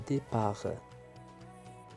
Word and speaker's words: départ: بالنسبة لو ديبار واخا عنده تي على fin ما تنطقش. le départ.